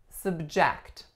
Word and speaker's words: subject: For our next pair, we have subject. Subject. This is acting as a verb because our second syllable is the strongest.